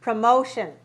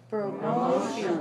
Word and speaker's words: promotion: three syllables yes okay and we pronounce the stress on two good second okay so we say promotion promotion i got a promotion